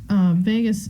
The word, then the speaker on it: vagus: thoracic and abdomen cavities so Vegas is first of all not spelled like the city but it's a really